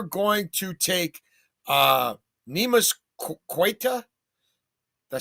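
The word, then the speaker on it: Queta: It should be Yeah, it looks like that should be Kita.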